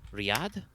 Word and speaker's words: Riyadh: are there are red sands in is that pronounced riyadh yeah yeah yeah i'll type it for you